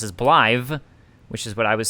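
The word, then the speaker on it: Blaidd: is also pronounced as blive which is what i was saying according to appenbard it's welsh and well should double d at the end of a word gets pronounced as a th sound blythe still sounds like they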